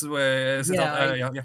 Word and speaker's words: Siddhartha: Herman, isn't that the guy who wrote Siddhartha, or how you pronounce it? Yeah, that's Siddhartha. It's Siddhartha.